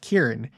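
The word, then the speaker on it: Kearon: Yes, this is pronounced Kieran.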